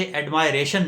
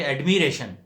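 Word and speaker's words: admiration: کمپائلیشن نہیں بلکہ کمپیلیشن۔ اور اسی طرح ایڈمائر ہے، ایڈمائر سے ایڈمائریشن نہیں بلکہ ایڈمیریشن۔ کمپائل سے کمپیلیشن، ایڈمائر سے ایڈمیریشن۔ ان میں ہوا یہ ہے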